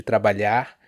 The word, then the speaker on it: trabalhar: also highlight here that she perfectly pronounces TrabaLHAR and this LH sound is not a very easy sound for people who are not native it's not an easy sound to foreigners to pronounce so yeah very good